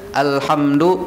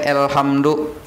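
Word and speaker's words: الحمد: Kita membaca alhamdu kada boleh elhamdu, alhamdulillah harus rata tuh hurufnya, kada boleh imalah mereng.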